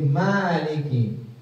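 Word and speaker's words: مَالِكِ: Kalau di sini dengan fathah ditambah dengan alif kecil, alif shir. Alif shagir. Jadi Maliki panjang bacanya.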